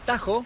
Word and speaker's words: Tahoe: Es California más precisamente estoy en el lago Tajo se escribe Tahoe y miren lo que es espectacular